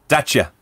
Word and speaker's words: Dacia: Dacia.